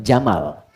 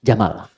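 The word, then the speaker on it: جمل: Jika dia pakai jenis gender dia jantan maka namanya jamal. Saya notis ya pendek bacanya. Jamal bukan Jamal.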